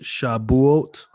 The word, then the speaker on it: Shavuot: Shavuot is actually pronounced Shabuot, Right.